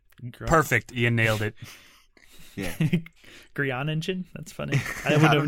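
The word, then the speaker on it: Groeningen: Okay, so Beautiful Boy, directed by Felix von Grioningen. Perfect. You nailed it. Yeah. Grianingen? That's funny. I would have never thought to pronounce sounding it out.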